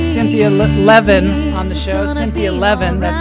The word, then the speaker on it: Cynthia Levin: Cynthia Levin, that's how you pronounce her name.